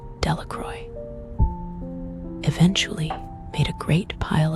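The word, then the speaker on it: Delacroix: The villagers pronounced this name Delroy.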